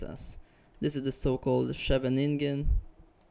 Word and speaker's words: Scheveningen: This is the so-called scheveningen. I think the Dutch people actually pronounce it Scheveningen, Sicilian.